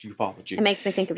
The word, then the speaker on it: ufology: It sounds funny, but it's pronounced ufology.